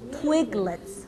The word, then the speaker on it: Twiglets: twiglets. 트위글렛. 네, 맞아요. twiglets인데 붙여서 twiglets. 강세는 twigl에 들어가요. 트위글렛.